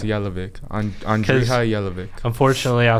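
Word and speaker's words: Jelavić: It's called It's Yelvic on Andre Yelic. Unfortunately, I saw somebody uh call call him the jelly man. And it's like you don't even pronounce his name like jelly.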